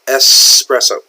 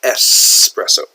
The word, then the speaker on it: espresso: It is actually espresso. Okay, so a lot of people make that mistake in spelling and pronunciation. A lot of Americans call it espresso. It's not X, it's espresso.